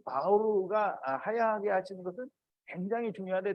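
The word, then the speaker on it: מאור: 사실은 이게 그냥 읽으면 마오르예요.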